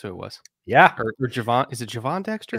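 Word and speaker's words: Gervon: Or Javon. Is it Javon Dexter? It's spelled Gervin. Everybody in his life says Javon. Like, his high school coach, his mom, like, everybody says Javon.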